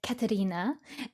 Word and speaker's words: Katerina: Not foreign, but that's how she pronounces it. Little Norwegian flair, since my mom is from there.